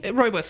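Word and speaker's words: rooibos: has a pumpkin spice I don't know how to say this word royos rubos tea royos is right okay I knew Samantha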